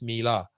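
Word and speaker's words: Miele: pronounce wrong um i i used to pronounce so so the washing machine man melee german company m-i-m-i-e-l-e i've always pronounced it melee until last year when i found it was mila ah detail details yeah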